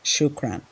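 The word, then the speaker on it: شكرًا: r a n but just know that the pronunciation is shukran and here one greeting you find very common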